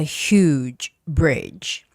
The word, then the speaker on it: huge bridge: Because we do not have the pronunciation that has like lips pulled out.